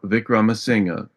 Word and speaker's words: Wickramasinghe: know that vicr singer although starting with a W is pronounced as if it starts with a V just think Vagner um